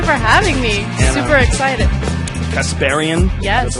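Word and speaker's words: Kasparian: us thank you for having me super excited casparian the right way to pronounce it from The Young Turks um which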